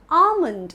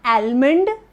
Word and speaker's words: almond: dry fruits, which is ALMOND. It is correctly pronounced as almond and not almond. The L is silent here, right?